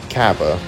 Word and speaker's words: Cabba: Then he will fight Cabba.